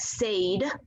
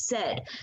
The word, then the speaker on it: said: by one sound so we know the word said it's not sayed right it's said so when kids go